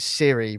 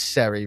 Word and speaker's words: Seri: I'm presuming you're supposed to pronounce it Siri, but it's not. It's Seri because it's a series based thing.